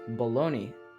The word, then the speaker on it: bologna: other at all like pony which rhymes with bologna and yes it's spelled that way another one is heard